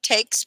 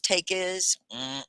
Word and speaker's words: takes: say this word again takes place takes place right that e s many people put another syllable on the e s take is that's not correct and we will know